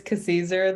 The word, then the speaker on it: Kwasizur: It's Kwasizur. The W is silent, so it's like Kwasizur.